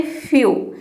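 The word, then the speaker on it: few: कुछ वर्ड में नहीं, किसी भी वर्ड में अगर ई डब्ल्यू एक साथ आता है तो ई डब्ल्यू को हम यू प्रोनाउंस करते हैं। जैसे कि देखिए यहाँ पे है फ्यू। एक का हो जाएगा आधा फो और ई डब्ल्यू का हो जाएगा यू। ये हो जाएगा फ्यू।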